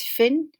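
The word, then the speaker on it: Fionn: these two strange words feon it's pronounced as finn and finnegas as phenagus how do you think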